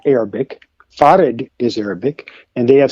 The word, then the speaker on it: Fard: Fared is Arabic. And they have since stripped uh WD Farad of his name.